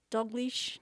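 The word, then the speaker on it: Dalgliesh: I really enjoyed the first two books, but I enjoyed the enigmatic personality of Adam Dalglish.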